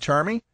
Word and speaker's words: Charmie: by telephone we've got charmi I hope I'm pronouncing That Right charm me you are Russ thank you very